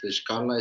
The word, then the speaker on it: Xcal: Por ejemplo, si tú quieres decir soñé, Nishkala, pero si nada más Shkala es soñar, ¿no? Ustedes la X también lo pronuncian como Shkala.